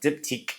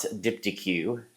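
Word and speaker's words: Diptyque: Yes, it's pronounced Dipique, not Dipyq, as some people have pronounced it, which we still get a kick out of hearing them say it.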